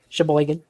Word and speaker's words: Sheboygan: a town in Wisconsin how do you think you say this shaver Sheboygan everybody knows Sheboygan it's it's um Sheboygan I'm just gonna go